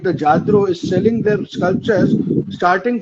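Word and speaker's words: Lladró: What do they have to say on brands like Ladraro? And I think I'm pronouncing it wrong. LLADRO. It's a Jadro. It's a Spanish. Jadro.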